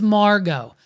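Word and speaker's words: Margeaux: It's not M-A-R-G-O like the average fucking person would spell it. It's M-A-R-G-E-A-U-X.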